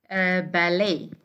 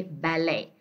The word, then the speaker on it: ballet: Some words are derived from French, like when we say ballet. Okay, like this one. Okay, so this ta is silent, and actually it's derived from French. We say ballet.